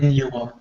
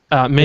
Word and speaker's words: Minuum: Minimum, I guess, is that the way you pronounce the keyboard? Minuum. Minuum. It's like continuum, but minuum.